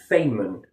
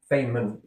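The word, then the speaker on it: Feynman: talking about this or Richard Fayman Fam Fman that's how you pronounce his name.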